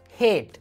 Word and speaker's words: hate: For example, if you take the word hate, H-A-T-E, there's an E, but it's... You don't pronounce it.